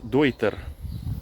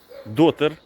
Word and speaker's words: Deuter: Правильно називається бренд Дойтер, так? Дой. Саме дой, тому що це німецька мова і там ці дві літери е та ю читається як ой, так? Тому називається дойтер. Дойта. Так, правильно. Деякі люди називають дотер, дей, деутер і так далі.